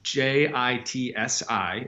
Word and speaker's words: Jitsi: Yeah, Jitsi Meet. I actually really like it. It's I think the functionality is frankly great. It's JITSI, if people are wondering what we were just saying, is how it's spelled.